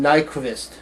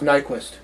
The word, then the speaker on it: Nyqvist: ray pace and michael i would pronounce his name nyqvist nyqvist but it's probably just nyquist uh so this is